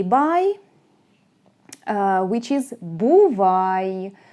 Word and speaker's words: бувай: There is another way to say bye, which is «бувай». «Бувай» sounds like English.